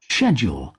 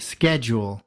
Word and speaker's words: schedule: അപ്പോൾ അതിൻ്റെ ഉച്ചാരണം schedule, schedule, schedule, പക്ഷേ അമേരിക്കൻ ഇംഗ്ലീഷ് നോക്കുള്ളൂ എങ്ങനെയാണെന്ന് വെച്ചാൽ ഇതിൽ നിന്ന് എൻറ്റയർലി ഡിഫറെൻ്റ് ആയിട്ടാണ് ഇവിടെ വെച്ചിരിക്കുന്നത്. schedule, schedule, അപ്പോൾ ഇതിൻ്റെ ഇവിടെ ഷേ ജ് എന്നാണ് ഉച്ചരിച്ചതെങ്കിൽ സ്കെജ് എന്നാണ് ഇവിടെ ഉച്ചരിച്ചിരിക്കുന്നത്.